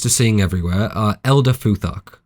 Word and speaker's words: Futhark: The pronunciation of the first six characters is F, U, TH, A, R, K, hence Futhark .